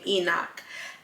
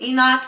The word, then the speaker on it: Enoch: I believe that's how you say his name Enoch and it talks about him so briefly it